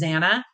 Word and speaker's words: Xana: Ethan and Xana, and it is Xana, guys, like Lana. I know a lot of people pronounce her name wrong, but it is Xana.